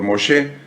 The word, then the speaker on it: Moshe: Y el de Moisés, evidentemente, por Moshe. Nosotros vamos a seguir llamándole Moisés en este estudio, pero la pronunciación correcta sería Moshe.